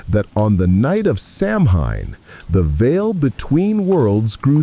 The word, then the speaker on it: Samhain: This moment was called Samhain, spelled S-A-M-H-A-I-N, but softly pronounced Samhain.